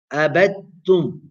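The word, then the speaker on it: عبدتم: Abadtum, abadtum, abadtum. Dal is sakina, ta is mutaharrika, you do idgham.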